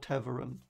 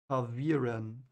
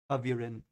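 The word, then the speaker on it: ta'veren: And there the bendings that like ripple through the pattern and change it like chaos are called Tavern. Or Tavern. Let me see how I pronounce it. Taviren. Okay. Taviren.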